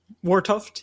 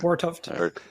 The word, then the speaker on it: Wartoft: Wartoft, yeah, correct. Okay. Wartoft. Just gotta get the T at the end of that.